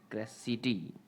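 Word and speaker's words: Criseyde: सी on your screen ट्रॉयस एंड क्रेटी modern English यह इसका उच्चारण है इ पोयम बाय जफ्री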